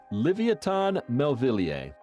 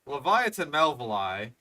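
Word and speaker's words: Livyatan melvillei: Livoton melier. It is related. Yes, that was a bad pronunciation. So, Leviathan Melvali because it is it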